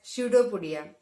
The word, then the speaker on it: pseudopodia: See the spelling, students, pseudopodia. It starts with P, but the pronunciation starts with S, pseudopodia.